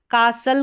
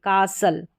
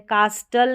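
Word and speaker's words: castle: यहां पर जो है टी साइलेंट रहता है। ठीक है? कासल करके पढ़ेंगे। कासल यहां पर टी जो है साइलेंट है। कास्टल नहीं पढ़ेंगे।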